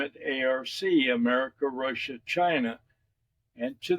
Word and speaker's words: ARC: And that happens, acronym for that is ARC, which is pronounced pretty much the same way ARK is pronounced.